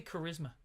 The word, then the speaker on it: charisma: How do you say charisma? Charisma. You don't say ch.